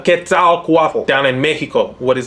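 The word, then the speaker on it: Quetzalcoatl: Central America in fact ketal quat you'll notice same fanatics on that final syllable as what you saw for quak UT in Canada ketal quat down in Mexico what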